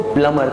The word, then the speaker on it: plumber: Like पानी के काम करने वाले को बोलते हैं, लिखते हैं PLUMBER, बट बोलते हैं इसको प्लमर।